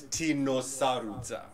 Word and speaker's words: Tino Sarudza: So the pronunciation, it's Tino Sarudza. So it's from Zimbabwe. It's okay. Shona from the language.